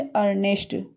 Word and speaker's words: earnest: इसी तरह से है जैसे अर्नेस्ट।